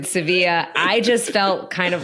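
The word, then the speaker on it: Sevilla: de espa I think the Spanish call it seevilla Seeva Joe do I have that better is that better than pistachio it is it is they do pronounce it seevilla I just felt kind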